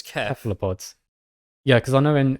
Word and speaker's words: cephalopods: was like like I always called them, cephalopods. yeah, cephalopods. then- I always said that. Yeah, and then like got to uni, it's like no, it's kef. Cephalopods.